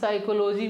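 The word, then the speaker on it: psychology: प साइलेंट यानी इस साइकोलॉजी में पी क्या है साइलेंट है प क्या है साइलेंट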